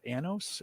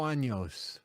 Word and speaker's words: años: This was the Reserva 5 Anos. Am I pronouncing that right? Cinco años.